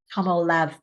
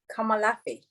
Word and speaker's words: Komolafe: Her name is Ronke Komolafe. Am I saying that wrong? So pronounce it properly. Komolafe.